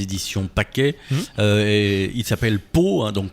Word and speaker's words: Pau: Et il s'appelle Pau, hein, donc Pau ça s'écrit comme la ville, hein, PAU.